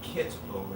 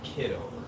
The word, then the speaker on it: Kitover: The name is spelled kit over, not kid over.